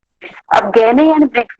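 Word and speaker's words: Gagné: दिया था गैने ने, इसको कुछ लोग गैगने भी बोलते हैं जी, इसमें साइलेंट है, आप कुछ भी बोल सकते हैं।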